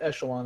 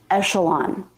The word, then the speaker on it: echelon: This word is echelon, not echelon. But echelon was a good guess because the CH can be pronounced k or ch or sh.